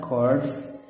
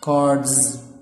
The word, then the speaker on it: cards: cards خد بالكوا ان الاس هنا بتنطق ز cards مش cards okay.